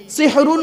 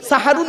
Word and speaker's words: সাহারি: এই কোরআনে আছেন মুবির সিহরুন মানে জাদু করা আর সিনে জবর দিলে সাহারুন মানে হলো রাতের শেষ অংশের খাবারকে আরবিতে সাহারি বলে তাহলে শব্দটা কি হবে সেহরি না সাহারি ভুলটা ভাঙলো সারাজীবন তো